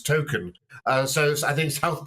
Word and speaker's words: Token: J.R tolkien's surname but actually the way it's pronounced is token uh so I think